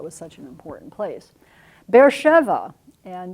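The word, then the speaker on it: Beersheba: such an important place bear Sheva and you'll notice that's transcribed there is bear Sheva not bear Shiba I will continue to use that pronunciation and spelling this is a very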